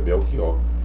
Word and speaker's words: Belchior: E quando eu fui ler o nome do secretário de Educação, eu li Belchior. E era para ser Belchior, A pronúncia é Belchior.